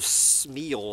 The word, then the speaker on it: Smil: And so JJ has sent me a review of a new book by fellow doomer Vaclav Smil, I guess you pronounce S-M-I-L as Smil. And Dr.